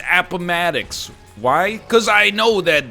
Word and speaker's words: Appomattox: war first five seconds you look at it upon attacks no dummy it's appomattox why because i know